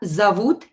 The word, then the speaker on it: зовут: When O is not stressed, pronounce it as A. So here we will pronounce this word зовут with A.